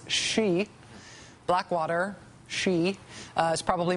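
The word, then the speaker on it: Xe: formerly known as Blackwater Blackwater now goes by the name we like to pronounce she Blackwater she uh is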